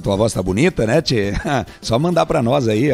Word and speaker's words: tchê: O tchê, portanto, é uma variação do che, oriundo da forma de grafar em português, como ele é pronunciado em espanhol, como se tivesse um T com um E fechado, né?